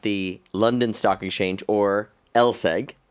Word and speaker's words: LSEG: Well thank you very very much for having us at the London Stock Exchange or Lseg, right?